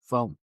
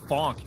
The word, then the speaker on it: phonk: Uh okay, spell it again. P H O N K. funk.